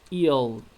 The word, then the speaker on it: aisle: the easel evil yes eel we don't pronounce s as that eel don't run in the